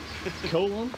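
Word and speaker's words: Colón: Colon? Yeah. You pronounce it something else? Colon. It is actually colon. Yeah. It is colon. Colon or something? Nah. It's actually colon. Colon.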